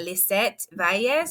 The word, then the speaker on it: Lizette Valles: And I am super excited today because today we are meeting with a micro school leader out of California, Lizette Valles. Did I pronounce that right, Lizette?